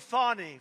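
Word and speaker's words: Fani: state Fulton County what do you think of fonny f do you think fonnie huh F A ni I that's pronounced Fanny but you're not allowed to say it's fonny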